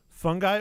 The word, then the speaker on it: fungi: Is it fungi or is it fungi? Fungi. How do you pronounce it? F-U-N-G-I. Which one are you going with? Fungi.